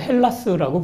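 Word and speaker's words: Ἑλλάς: 그래서 제가 히랍 사람들은요, 자기네 나라를 헬라스라고 불러요. 혹은 H 발음이 약해지고 좀 다른 형태를 써서 엘라다라고 부르기도 합니다.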